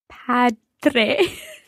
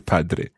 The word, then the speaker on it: padre: can we hear father padre francesca it's your padre padre okay it's a strong d in there and just like dormire